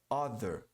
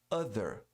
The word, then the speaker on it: other: É other, não é O, é A. E o TH aqui para pronunciá-la corretamente, você coloca a língua entre os dentes e você produz um som de Z.